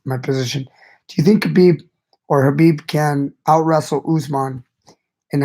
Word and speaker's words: Khabib: Khabib is or Habib. I keep calling him Khabib. I gotta switch. I'm trying to switch to my pronunciation of Habib, but Habib is really, really amazing, guys.